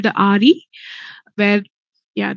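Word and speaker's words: AHRI: Institute it's called the Ari where yeah the H is silent so it's Ari and um you have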